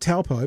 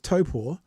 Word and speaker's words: Taupō: If it's not Taupo, but it's Taupō, is that an attack on you personally?